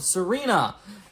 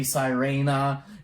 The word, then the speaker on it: Sirena: Hi, I'm Argolfump with a review of Sirena, and I think that's how it's pronounced. It could be Sirena, and I believe that's a Latin word for mermaid.